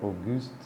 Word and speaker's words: Auguste: Enfim, até botei um PS na descrição do outro vídeo, que a pronúncia correta, né, seria Auguste, mas enfim, vida que segue.